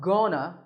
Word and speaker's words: gonna: Gonna is a reduction of going to, and it's used when we talk about the future. Notice that it's not gonna, it's pronounced gonna.